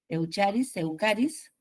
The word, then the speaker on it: Eucharis: Por eso, si ustedes buscan por ahí Eucaris, a ver, Eucharis se escribe, Eucaris, y ahí van a ver la paracorola que se nota claramente, ¿no?